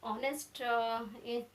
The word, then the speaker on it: honest: That honest the honest word produce sound, that is vowel sound.